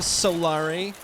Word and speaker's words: Solaire: new-build he had the solar helmet right it's pronounced a Solari you know I took a I got a share a picture with you guys I found out where Solaire lives IRL loop is the first and only